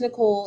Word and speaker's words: Niceole: and uh for everybody it is pronounced nicole even though it's spelt weird uh last name is